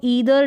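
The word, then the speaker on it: either: नाइ दर है इसको ईदर नीदर यानी आइ दर को इदर और नादर को नीदर करके भी प्रोनाउंस किया जाता है जो भी आपकी जबान पर बैठ आप वैसे प्रोनाउंस कर सकते हैं अब यहां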